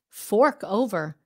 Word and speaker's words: fork: to pronounce it correctly I know this word is very hard it's very difficult for Vietnamese Fork Fork that R is so